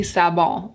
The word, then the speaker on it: Sabon: It's spelled Sabon, but do you think it could possibly be pronounced Sabon or Sabon? Sabon? I think it must be Sabon, like the French.